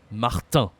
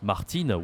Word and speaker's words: Martin: This is the most common noun in French, Martin. Okay, again a nasal. Okay, like the word we saw before. I don't remember which one, but we say not Martine, we say Martin. Martin.